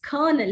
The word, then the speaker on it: colonel: I've heard many people say colonel, which the l is not present here at all. You pronounce it as colonel. He's a colonel in the army.